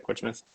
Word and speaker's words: Portsmouth: Uh that's how you guys pronounce it, right? Portsouth.